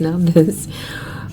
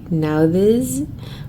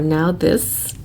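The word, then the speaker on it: Nauthiz: this I promise you it's pronounced now this it's n Au u t h i z now this or now this and it's the new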